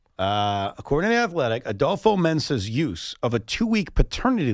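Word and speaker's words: Adofo-Mensah: We mentioned this late last week, the GM of the Minnesota Vikings, and I want to pronounce his name correctly. Quiquo. Adopo. Mensah. Mensah.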